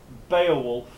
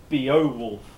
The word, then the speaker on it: Beowulf: deal Wow and again well these are falling diphthongs the stress is on the first element one talks about Beowulf not Bo wolf or something crazy like